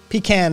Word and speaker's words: pecan: It traditionally is a southern pronunciation. Pecan is pecan pie. Yeah, get your skinny behind in the house and have yourself a slice of pecan pie. It's a southern pronunciation. Outside of the South, you tend to hear pecan.